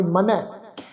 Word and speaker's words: मनै: शब्द मनै मम्मा नन्ना ऊपर दुलावां दा पाठ नाल बिंदी लगा के उच्चारण करांगे मनै।